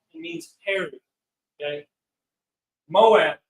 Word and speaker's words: Moab: Moab equals Mawa'aba, means pronounced Mawa'aba, of his father, of his Abba, of his father.